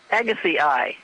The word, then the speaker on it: Agassiz: the Atlantic, you'll find animals named after Louis Agassiz. Yes. So if you have something that has that weird name, it's pronounced as Agassiz. Neolithotes Agassiz. Correct. Something like that. Right, and we're in the Agassiz Valley right now.